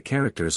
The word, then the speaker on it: character: characters on a coin the noun character Milton pronounces with Accent on the first syllable as does Shakespeare probably he also agrees with Shakespeare in pronouncing the verb with the accent on the second syllable as this verse suggests